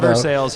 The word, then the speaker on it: Versailles: They call it Versailles here, just like that place not too far from here.